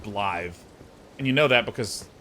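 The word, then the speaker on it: Blaidd: But, like, there's the guy whose name is written B-L-A-D-D or B-L-A-I-D-D. And that's pronounced Blythe.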